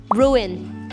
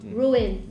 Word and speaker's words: ruin: and then we have ruin ruin uh I used to pronounce uh Ru but very wrong ruin ruin ruin means um